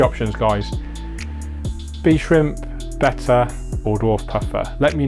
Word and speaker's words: betta: A betta tank, so a fighter, betta, beta. David Attenborough pronounces it betta, so that's what I'm sticking to.